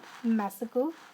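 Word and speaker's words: massacre: देखिए इसका जो प्रोनाउंसिएशन होगा वो होगा मैसेकर।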